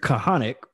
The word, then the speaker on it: Kahanek: right so um so my name is kahanek ceo of elite business masters where we come